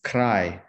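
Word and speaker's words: край: the border outskirts boondocks cry means both the edge and region and it is pronounced it sounds a lot like the english word cry a self-fulfilling prophecy as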